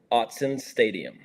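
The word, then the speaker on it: Autzen Stadium: now do me a favor go ahead and pronounce the correct way to say the stadium so it's Austin Austin Stadium Hudson Stadium where does that come from you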